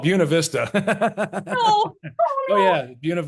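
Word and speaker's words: Buena Vista: need a pronunciation guy don't ever go to buav Vista then which we call buav Vista oh oh oh yeah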